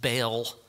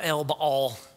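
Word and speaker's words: Baal: separate how they would think about agriculture from Bal which that's a that's a word that means husband uh you probably hear it pronounced bail I I pronounce it Bol B Bol it's the same false god it means husband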